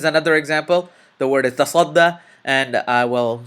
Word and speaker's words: تصدى: The word is tasadda, and I will spell it and pronounce it next.